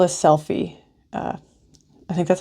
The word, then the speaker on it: Selphy: I think it's called a Selphy. I think that's how you pronounce it. Selphy. It's a Selphy.